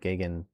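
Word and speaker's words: Gagen: And there's already 82 mile per hour pixels at 9,700 feet off the ground heading in toward Gagan, Wisconsin. That's how it's pronounced.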